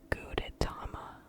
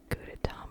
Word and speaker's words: Gudetama: famous one, is called Gudetama. She is shaking her head. Yes, that is how you pronounce it. Gudetama, I think. I could also be pronouncing it incorrectly, I don't know.